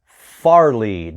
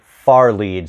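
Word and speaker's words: fairlead: spelled fair lead but you want to pronounce that far lead not fairly but far lead so if you try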